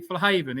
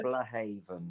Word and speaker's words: Flahavan: always tell me that it was actually flaven isn't that the right way to pronounce it flah Haven yeah yeah which I'm not too